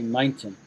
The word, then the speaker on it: mountain: When we have the T sound, See, us Brits would not say it like we don't say center, center, center. We say center. Mm. We pronounce the T. So this is just the difference between American English and the way she said mountain, mountain, mountain, mountain. We say mountain, mountain.